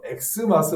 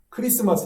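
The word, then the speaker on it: Xmas: 어떤 뜻인지 알아 보겠습니다 원래는 크리스마스 라고 읽어야 합니다 왜 그렇습니까 x 라는 것은 헬라어의 크리스토스 헬러 에 그린 소스 의 첫글자 x 이거를 나서 어 줄여서 약식으로 부르고스 거죠 그래서 우리는 읽을 때는 크리스마스 라고 읽어야 맞는거 자 크리스 말씀으로 뭐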